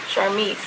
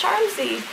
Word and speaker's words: Charmzy: And I know people are like that because there are people that call me Charmise. I'm like, it's Charmzy. And I know some people say Charmzy, and I understand, obviously, it's spelled like that. But Charmzy is just like a nickname for Charmaine, which is my name.